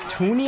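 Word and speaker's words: Thuney: You have Tooney, I believe you pronounce his name, the rookie Joe Tooney, who looks like he's having a pretty good preseason so far.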